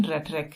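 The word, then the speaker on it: rhetoric: इसकी pronunciation रेटरिक है, प्रभावशाली भाषण, परंतु जरूरी नहीं कि ईमानदार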